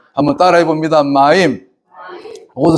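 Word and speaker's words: מים: 물을 갖다가 히브리어로 마임이라 그래요. 마임. 한번 따라해 봅니다. 마임.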